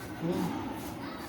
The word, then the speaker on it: Om: But mind that when Om is Om consists of three syllables. O, U, Ma.